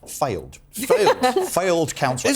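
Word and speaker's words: Fylde: my nomination is counsel I think it's pronounced ironically enough failed failed failed counsel f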